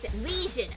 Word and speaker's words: lesion: Lesion. Pronounced with a Z. Lesion.